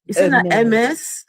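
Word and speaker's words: Hermès: Hermes. Yeah. Hermes. If if you're speaking French, you're going to pronounce it the French way. It's MS. MS.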